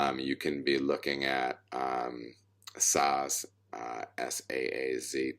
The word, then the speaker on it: Saaz: People pronounce that different ways. Some people pronounce it like Zats. I'm not sure what it is. I call it Saz because I'm American and I don't know how to say it any other way.